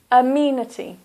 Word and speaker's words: amenity: of these words the first word is amenity so that's four syllables this is a here is the stress amenity amenities so you've got singular